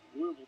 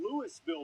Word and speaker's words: Louisville: And it's Caleb Warren, a sophomore from Louisville, Mississippi, where they pronounce the S.